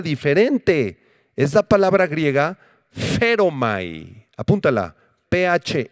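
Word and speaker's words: φέρομαι: 21, es la palabra feromai con acento en la e, que significa conducir a alguien, guiar a alguien.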